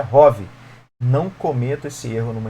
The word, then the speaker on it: ROV: veículo subaquático operado remotamente nesse as letras separadamente are of How r u v nunca se fala of pronuncia Hobby Não cometa esse erro